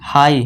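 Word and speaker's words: high: अब एच आई जी एच हाई हाई पढ़ेंगे इसे जी एच को साइलेंट कर देंगे इसे क्या पढ़ेंगे हाई अब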